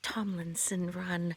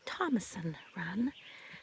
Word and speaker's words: Tomlinson Run: And Run state park but people it's actually pronounced yeah Tomlinson run that people locally call it Thomason run the sort of an idiosyncratic regalism and a